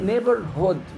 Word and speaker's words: neighborhood: كلمة بصوا كلمة نطق ايه neighborhood مش hood hood اخطفوا الاو كده neighborhood short vowel يعني يعني ايه neighborhood